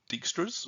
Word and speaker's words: Dijkstra: them this is prim's not dextres or dijkstra so if you want to say his name um because we're not